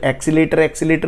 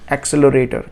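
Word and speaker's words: accelerator: आप लोग गाड़ियों में जो एक्सीलेटर बोलते हो ना, उसका सही प्रोनाउंसिएशन है एक्सेलरेटर।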